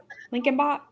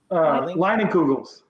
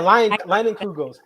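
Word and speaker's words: Leinenkugel's: I can't pronounce it. We have it here. Lincoln. It starts with an L. Lincolnbach. Leinenkugels. Yeah, Leinenkugels.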